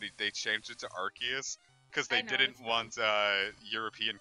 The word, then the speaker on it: Arceus: Arceus well no because he very specifically said it was supposed to be Arceus but if they changed it to Arceus because they didn't want